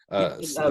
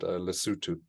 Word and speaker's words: Lesotho: We have countries in South Africa, like that are surrounded by South Africa, like Lesotho, Lesotho right? and Swaziland. Yeah, well, we pronounce it Lesotho.